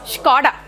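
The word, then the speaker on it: Škoda: How is it pronounced? Skoda. German. Skoda. So manakem telusu spelling batti there's a small hyphen paina. Have you noticed? That is the pronunciation part.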